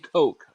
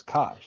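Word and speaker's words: Koch: And when we say 18K, we're we're talking about Heckler and Coke. Okay. Heckler and Coke is a German firearms manufacturer. Thought it was cop.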